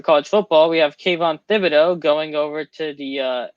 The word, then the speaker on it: Thibodeaux: last news for college football we have kayvon thibodeaux going over to the uh nfl that's how